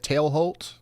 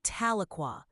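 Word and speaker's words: Tahlequah: one um that I tail Holt is that right tail Holt close but it's actually taloa you say it like you're thinking of the wrong thing I'm talking about just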